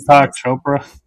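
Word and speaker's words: Deepak Chopra: So like Deep Depot uh Chopra, how do you say his name? I can't Deepo Chopra.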